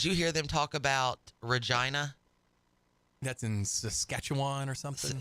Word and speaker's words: Regina: town because it said Regina the town that rhymes with fun that's and it then